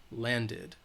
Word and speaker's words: landed: the it land did land ends with the D sound so we're going to add that it at the end land did landed our plane landed at